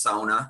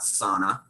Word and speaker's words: sauna: and by the way it's pronounced Sona not sauna sauna that actually does